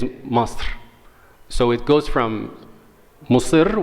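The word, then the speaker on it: مصر: Arabic it's called tashkil, like just for the pronunciation, it says Masr.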